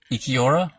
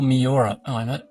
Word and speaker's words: Miura: Is it Ikiura? Produced by Kentaro Miura.